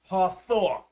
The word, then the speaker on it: Hathor: marriage a plague so this was the god hathor okay it's spelled h-a-t-h-o-r this was a god this was